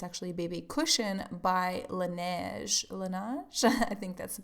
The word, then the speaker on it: Laneige: Laneige? I think that's the pronunciation.